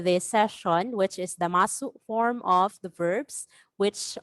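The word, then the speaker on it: ます: or delete ru and replace it with masu or mas, because you can drop the u sound at the end to sound like a native.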